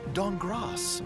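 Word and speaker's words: Dankgrass: C team Amy Falcone's walnut dong cross the K is silent and create the best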